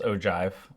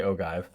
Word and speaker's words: ogive: So an ogive, which yes is pronounced ogive, though no one's going to count off if you say ogive, is a graph that represents cumulative frequencies for classes in a frequency distribution.